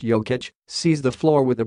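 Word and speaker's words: Jokić: is something I admire Jacques ik pronounced yo kitch sees the floor with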